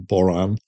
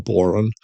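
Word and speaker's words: bodhrán: uh the Irish drum which is pronounced differently by different people. I use the pronun pronunciation boran or boron uh something close to that manglin bazooki gertie.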